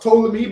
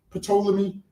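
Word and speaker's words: Ptolemy: So it's it's pronounced tolamy but obviously a lot of us say poleami.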